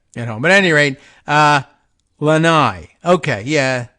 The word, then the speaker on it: Lanai: home but anyway uh Lanai okay yeah I see the uh uh stress marker for the uh still which syllable the stress gets comes in the front not in the back like an accent mark but okay anyway